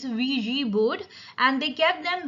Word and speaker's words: Ouija: इसकी जो correct pronunciation होता है वो होती है Ouija board. Actually, it's a French word. It's Ouija board, and they kept them busy with their questions.